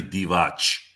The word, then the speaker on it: Divac: ahead and pronounce it it's actually divatch don't don't make a mistake like that again no he said pilate